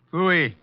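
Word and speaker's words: pfui: Phooey. What's that? Phooey. It can be spelled in several ways. I spell it P-F-U-I.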